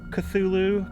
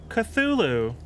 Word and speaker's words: Cthulhu: has anybody here played this game call of cthulhu ctulu we still don't know if it's cthulhu